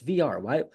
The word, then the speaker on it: Villar: It's never pronounced No, in like the no. English people would pronounce it. So why do like people call him Jonathan Villar? No, it's VR. Why have we not learned this? That bothers me so much. The LL does not make a low sound.